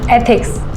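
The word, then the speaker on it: ethics: कहां है इथ शुड थिक्स नहीं एथिक्स ऐसे प्रोनाउंस करो एक बार बोल के बताओ एथिक्स अच्छा ये शमा का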